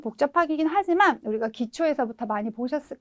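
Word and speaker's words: 恥: 그래서 우리가 치자는 발음을 하시인지 하지인지 굉장히 헷갈리게 해놨잖아요. 네, 발음은 하지로 읽어주시면 되겠네요.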